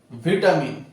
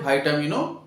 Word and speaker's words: ভিটামিন: ভিটামিন এই উচ্চারণটা ভিটামিনও বলে, আবার অনেকে ভাইটামিনও বলে।